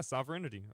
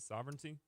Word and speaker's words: Sovereignty: Sovereignity or I think that's how you say it. Sovereignty.